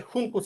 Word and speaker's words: Juncus: Probablemente Juncus en español, sí, con pronunciación español.